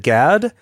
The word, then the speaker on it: Gad: the car was like is it GAD did I pronounce that right and he's like yeah a lot of people get it wrong and I think it's what did they say well they think it's like God or something like that God yeah dad whatever